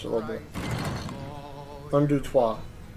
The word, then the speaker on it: trois: Un, deux, trois. Un, deux, trois. Not un, deux, tres.